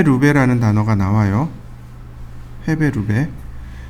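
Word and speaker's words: 立米: 해배, 루베라는 단어가 나와요. 해배, 루베. 이거 일본식 발음입니다. 헤이베, 류베이. 헤이베, 류베이. 이렇게요.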